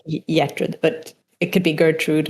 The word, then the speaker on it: Gertrud: So, in Swedish, it's just a soft G. So, it's like Yetred, but it could be Gertrude or Yetrude or whatever.